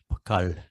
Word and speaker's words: pokal: I can't pronounce it properly, but that L with the dot under it is arla, pokal. It's a retroflex. You flap the tongue on the roof of the mouth.